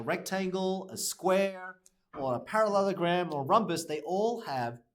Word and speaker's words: parallelogram: So it's like parallel. So you know how to spell parallel. It literally has the word parallel there. And then ogram. Ogram. So when you pronounce it, parallelogram. Okay, parallelogram. Yeah? Parallelogram. Parallelogram. It's parallelogram. Okay, so parallelogram.